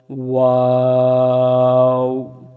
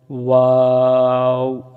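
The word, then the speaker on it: و: হয় সেদিক খেয়াল রাখবো মুখ গোল করে আমরাও উচ্চারণ করব এবং ওয়াও উচ্চারণের সময় আমরা চার আলিফ টেনে ওয়াও উচ্চারণ করব যেমন ওয়াও ওয়াও ওয়াও এরপরে আসি হা আমি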